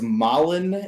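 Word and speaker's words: Malon: just gonna google it right now so it's malin in ocarina of time and marin in [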